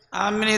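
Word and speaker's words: آمين: Amin itu kalau dalam ada beberapa bacaan. Cuma yang muktamad bacanya amin. Dipanjangkan hamzahnya dan minnya. Amin. Jangan bacanya amin. Ditasdid. Ya, karena maknanya gosibin.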